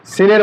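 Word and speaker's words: سين: তাহলে একই মাখরাজ থেকে যেহেতু, তাহলে দেখেন আমরা একটু উচ্চারণ করে দেখাই। সিন, হরফটা পাতলা হবে এবং বাতাস জারি থাকবে।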